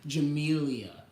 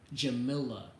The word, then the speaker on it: Jamila: and you're even worse like Jamelia Jamila it's JA Mila she changed her name